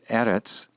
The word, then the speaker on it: eretz: So a word such as eretz, with an accent on the first syllable, retains that first syllable accent as a hey locative. Eretz, aretza. Eretz, aretza.